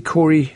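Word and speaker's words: Kåre: Corey? Yeah, that's right. Okay, it's spelled K-A-R-E in Sweden for the pronunciation of Corey.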